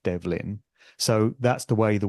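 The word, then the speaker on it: Ó Dobhlain: a i n so in the Gaelic pronunciation sounds something like Devin so that's the way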